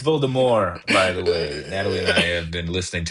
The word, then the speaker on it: Voldemort: It's Voldemort, by the way. Natalie and I have been listening to the thing. It's the T is silent.